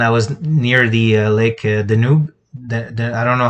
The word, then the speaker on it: Danube: I was in a trip to Budapest, and I was near the lake Danube. I don't know how you say it in English. Danube.